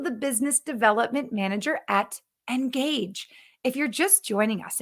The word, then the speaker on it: NGAGGE: tell from our name engage which is spelled cleverly n-g-a-g-g-e sounds like engaging engage with your customers